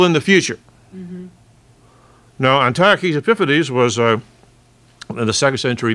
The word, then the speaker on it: Antiochus Epiphanes: Now, my Western Civ professor was an Aussie, and he pronounced it Antiochus Epiphanes, but no, it's Antiochus Epiphanes.